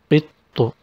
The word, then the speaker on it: قط: We have قط with سكون then طو with ضمة. قط. So we pronounce it twice because actually it is معل then لم.